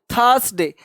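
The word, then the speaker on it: Thursday: आर का sound ध्यान देना, आर के पहले अगर कोई वॉवेल लेटर हो तो उस आर का उच्चारण आधा होता है, पार्शियल होता है।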